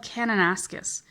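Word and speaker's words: Kananaskis: my favorite Parks is called canonaskus which is spelled banana skis but you have to replace the B with a K it's kind of fun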